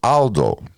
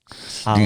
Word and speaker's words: Aldo: And to this day, it's actually hard to pronounce because it's Aldo. Because the A is A. Aldo.